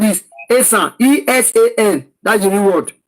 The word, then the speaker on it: Esan: It was the British that pronounced it as Esan, but the real word is Esan.